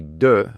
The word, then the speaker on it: deux: So if you say deux, which is 2, but if you have 2 years, it's 2 ans. All of a sudden, the X comes alive.